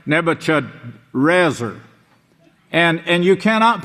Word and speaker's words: Nebuchadrezzar: It's not even Nebuchadnezzar. It's Nebuchadrezzar.